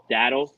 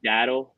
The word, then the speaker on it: Dowdle: Dowdle. Rico Dowdle. There's a W. Dow, like the Dow Jones.